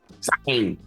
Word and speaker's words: Zhang: Zhang.